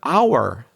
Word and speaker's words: hour: So it's spelled with an H.